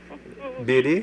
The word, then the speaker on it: Bede: I pronounce it Bede. You know them long-time Catholics. Bede? B-E-D-E. Okay, Bede. Yes, right.